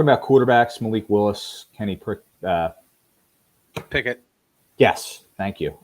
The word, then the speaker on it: Pickett: We were talking about quarterbacks: Malik Willis, Kenny Pickett. Yes, thank you. I keep mispronouncing it as Pritchett for some reason.